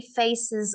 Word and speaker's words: faces: there weren't any happy faces of the queen on pounds notes so be careful with your es you have to make sure it sounds like a zed faces so they weren't there